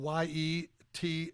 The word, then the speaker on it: Giertz: guest today has been Simone yet and it's spelled just like it sounds g i e TZ obviously duh my ancestors were trolls it makes sense in no language that I have found so far it's a beauty so yet.